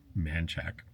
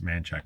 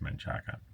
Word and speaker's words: Manchaca: It's spelled Manchaca, but you call it Manchaca. Manchaca. You call it Manchaca, but it looks like it's Manchaca.